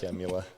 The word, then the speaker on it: Kamala: with HR 127 and this whole thing that Kamala Harris and Vice President Biden are pushing. How do you pronounce her name? Kamala. Camula.